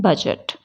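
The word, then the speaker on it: budget: बोलते एज बोलते हैं बजट नहीं बोलते बजट के स्पेलिंग में डी आता है लेकिन ये डी साइलेंट रह के हम क्या बोलते हैं बजट ठीक है इसी तरह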